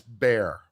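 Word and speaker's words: Bexar: That's bear like the animal.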